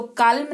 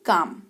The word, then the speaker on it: calm: जैसे कि CALM, एल के बाद क्या लगा है, एम, तो काल्म नहीं काम, काम का मतलब शांत।